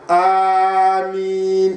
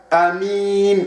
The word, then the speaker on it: آمين: Il y a Amin avec le Hamza. Il y a Amin, Amin comme ça.